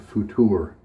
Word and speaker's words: Futur: The razor we're going to use today is this Merkur Futur. It's spelled future, but with no E at the end, so I assume it's pronounced Futur.